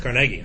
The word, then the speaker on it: Carnegie: production was andrew carnegie carnegie his name is pronounced carnegie i know you're like carly no actually it's